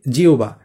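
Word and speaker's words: জিহ্বা: এই যে দেখো এইটাকে আমরা এতদিন জিহবা বলতাম তাই না? এটা কিন্তু জিহবা না। এটা হচ্ছে জিহবা। কেন জিহবা হইছে? কারণ এখানে হ এর সাথে ব আছে। সুতরাং এটা হবে জি। তারপর এখানে কি হবে?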